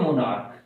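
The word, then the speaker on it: monarchy: या government by ए मोनार्क, एक मोनार्क, बादशाह, रानी या राजा को मोनार्क कहा जाता है, सम्राट भी हो सकता है इसमें, उसे कहा जाता है मोनार्की। मोनार्की आर साइलेंट है इसमें, राजतंत्र या राजाशाही।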